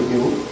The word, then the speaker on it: PoE: fonctionnalité qui a fait la révolution des réseaux aujourd'hui, qui s'appelle le PO. Donc c'est en anglais PO. PO, ça veut simplement dire, bon, ça s'écrit PO-E, ça veut dire Power Over Ethernet.